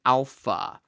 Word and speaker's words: alpha: This is ah as in father. And so this kind of helps us map our alpha to the A sound in English.